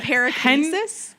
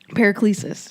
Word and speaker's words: Paracelsus: and Paraclesis. Hengris. Paracelsus.